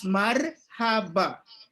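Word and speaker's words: مرحبا: It is pronounced as marhaba.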